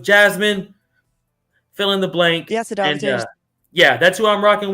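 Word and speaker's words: Jasudavicius: And I mean, again, if you've been saying it wrong. It's actually Já se dá večer.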